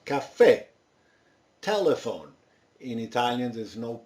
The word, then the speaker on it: caffè: So the English cafe, it's basically with two F's and with an accent, and it's pronounced caffè.